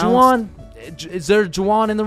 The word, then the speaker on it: Juwan: That's just how it's pronounced. Juwan? Is there Juwan in the room? It's Juan.